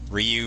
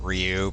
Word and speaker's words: Ryu: sense of their story the Japanese version pronounces it for you the English version pronounces it Ryu pretty much every nation out there pronounced as Ryu I don't know where